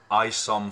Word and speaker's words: Isom: So if you go to YouTube and you just put in Isom Fontenot, which is spelled I-S-O-M, that's his name, Isom.